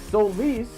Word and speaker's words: Solis: I came up with the name Solis because Solis is how it's pronounced in Latin.